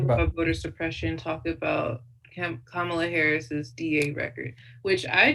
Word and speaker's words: Kamala: just recently heard that her name was kamala and i've been saying it camella and i don't know how i never heard her name spoken out loud but i said it to my sister and she's like did you just say kamala like pamela yeah yeah yeah that